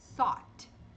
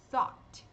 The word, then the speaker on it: thought: GH mudo, tá no final da sílaba, e o Tzinho de parada. Então, a gente vai pronunciar thought. Thought ou thought, como você preferir.